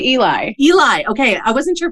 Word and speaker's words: Eli: Do you pronounce it Ellie? I say Eli.